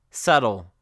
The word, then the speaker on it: subtle: you have to memorize like doubt subtle or debt where the B is completely silent and you pronounce the T instead and that is it